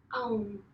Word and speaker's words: Om: So you say it like A-U-M. A-U-M. Om.